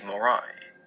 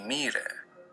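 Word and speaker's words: Moirai: three sisters of fate, the Morai, or the Mire, if you want the Greek pronunciation.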